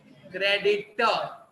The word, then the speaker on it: creditor: लेकिन अगर मुझे किसी पार्टी को पैसा चुकाना है, तो वो मेरा क्रेडिटर, क्रेडिटर, वापस आर साइलेंट है, क्रेडिटर।